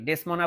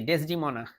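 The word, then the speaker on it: Desdemona: আর ডেসমোনা এই ডেসমোনা হচ্ছে অথলেরই স্ত্রী সরি ডেসমোনা বলতেছি ডেসডিমনা এর উচ্চারণ আমার সবসময় একটু সমস্যা হয় জুলিয়াস সিজার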